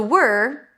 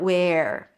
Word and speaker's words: were: By the way, to pronounce it, you start with a W. Make sure that there is no vowel in between and you pull the tongue in for the R. Were, not where.